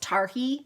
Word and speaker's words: Targhee: If you have not knit with, and I think it's pronounced Targhee without the G, but I always say Targhee, Targhee yarn, and it is, let